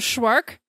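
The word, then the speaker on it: Szwarc: Jeannot Schwark. We should know. His name rhymes with shark.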